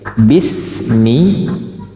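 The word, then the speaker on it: بِسْمِ: dengar Bismillahirrahmanirrahim baik Bismi Bismi tipis ya bisnya kemudian suara sukun sinnya terdengar jelas Bismi Bismi bukan pakai tsa sehingga bunyinya Bismi Bismi tapi Bismi bersih sekali kemudian Mi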